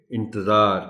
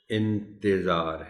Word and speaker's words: انتظار: اس کو روانی میں انتظار کہتے ہیں، دھیان کے ساتھ نہیں بولتے۔ اس کا تلفظ انتظار ہے، یعنی تے کے نیچے زیر کا خاص خیال رکھا جانا چاہیے۔ صاحب، اس لفظ کو